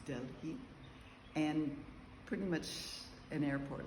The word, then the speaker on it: Delhi: Then we had 2 hours in Delhi, which is pronounced Delhi, and pretty much an airport, like all airports.